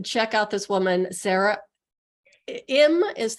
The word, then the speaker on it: Im: Im is how you say it.